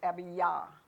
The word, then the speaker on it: Abijah: Now we come to Abijah. When you say Yah, Abijah, because there's no J actually in the Jewish language. So it actually is pronounced Abijah.